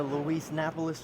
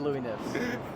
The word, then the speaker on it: Lou Napis: on camera on the Lou napis Channel hey I appreciate you saying my name right you know I almost said Lou nips I was very close oh that's a very